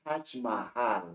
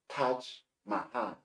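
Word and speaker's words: Taj Mahal: the the pathon India you have the touch Mahal not touch Mahan in taking you have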